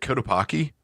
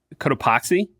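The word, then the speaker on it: Cotopaxi: Um, and uh I noticed we both have uh I never know how to how to pronounce this, but we both have is it Kotapaki? Kotapoxy.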